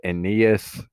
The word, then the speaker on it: Aeneas: this first person is a person and it's pronounced aeneas so that's how you pronounce that name and